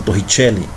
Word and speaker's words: Torricelli: Se escreve Torricelli, né? Mas como o cara é italiano, né? É Evangelista Torricelli. Italiano, então você tem que pronunciar italiano, é Torricelli, tá?